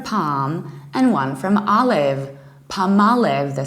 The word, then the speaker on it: Palmolive: Palmolive so what happens you don't stress the first syllable like pollen meleave like palm no you stress the second syllable Palmolive and please do realize that actually this name consists of two words palm like a palm tree so you don't pronounce L Ellis Island you prolong our palm and olive Palmolive and you stress the second word Palmolive in the American accent